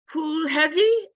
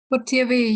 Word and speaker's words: Putivi: Okay, Pulhevi, I don't think I pronounced that right. I'm sorry. How do you pronounce it? Putivi, you are right.